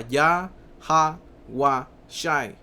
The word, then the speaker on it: Yahawashi: El paleo hebreo se pronunciaba Ya, Ha, Wa, Shai, ok, con la A.